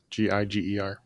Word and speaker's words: Giger: And I've always pronounced it Geiger. I'm not sure what the official pronunciation is, but it's Giger.